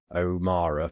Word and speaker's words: O'Meara: dot now just spell my surname o m e a r a omara but it's spelled Oma